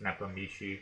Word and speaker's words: Nepomniachtchi: I always say Nepomniachtchi. I think it's pronounced Nepomniachtchi. We'll just be calling him Nepo.